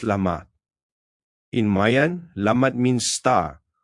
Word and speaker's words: Lamat: Last in this harmony cycle is yellow lamat pronounced lamat.